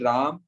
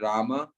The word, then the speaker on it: Rama: and Rama so so not Rah but Rama not Krishna but Krishna